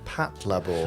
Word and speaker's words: Patlabor: Second, Jamie's pronunciation of Patlabor I remember it well.